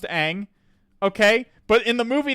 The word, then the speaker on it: Aang: seen the show and I know it's pronounced Aang okay everybody knows it's pronounced Aang okay but in the